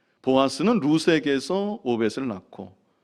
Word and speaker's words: 룻: 살몬은 라합에게서 보아스를 낳고 보아스는 롯에게서 오벳을 낳고 오벳은 이세를 낳고. 제가 롯이라고 읽었는데 룻이죠. 예. 보아스는 룻에게서 오벳을 낳고.